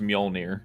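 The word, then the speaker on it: Mjölnir: it's pronounced Mjolnir.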